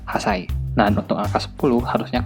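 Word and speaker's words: 八歳: Nah, untuk angka 8 harusnya kan hachi, tapi dibaca hasai.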